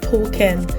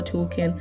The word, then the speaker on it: Talken: Number 5, Token. This is spelled TALKEN.